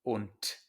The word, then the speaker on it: und: I'm going to mention this many times, but a D at the end of a word in German is pronounced like a T. So this word is not pronounced und. In English we say and, but in German, when a voiced consonant is at the end of a word, it becomes voiceless. So this word is pronounced und, as if it were written with a T.